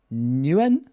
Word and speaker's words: Nguyen: Hola Nguyen. I would say it's a silent G, but good to have you guys on the call.